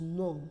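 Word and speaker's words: gnome: gnat and g-n-o-m-e is known not ignore so we have certain words with letter G but the g is silent and by silence we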